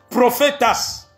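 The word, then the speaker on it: προφήτης: a été traduit c'est prophétas donc le mot grec prophétas je vis vous l'appeler P r o P h e t e s mais en grec ça se prononce prophétas c'est de ce mot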